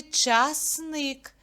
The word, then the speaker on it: часник: в другому складі черешня в слові часник скільки складів два а на який звук падає наголос часни на звук и ноги довгі мовжердини чваньковата